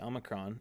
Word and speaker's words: Omicron: Omicron uh up here the Omicron is this is the short o a sound and the Omega is